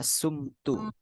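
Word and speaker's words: صُمْتُ: kalau saya telah berpuasau bukan som t Tapi bacanya sumtu Oh sumtu Oh iya i Nah jadi panjangnya Apa alifnya itu hilang jadi sumtu Soma jadi sumtu berarti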